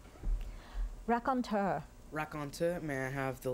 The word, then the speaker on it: raconteur: Raconteur, are there any alternate pronunciations? There are none. Raconteur. R-A-C-O-N-T-E-U-R.